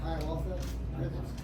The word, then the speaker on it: ayahuasca: This, how do you pronounce it? Sounds like ayahuasca.